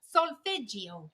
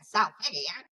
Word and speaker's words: solfeggio: Solfeggio, the solfeggio frequency.